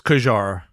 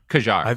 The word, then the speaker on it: Qajar: Q A J J A R I think it's Qajar. Qajar.